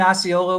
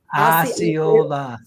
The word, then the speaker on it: Osceola: It happened in Osceola, which is just south of Orlando, but it's in like Orange County.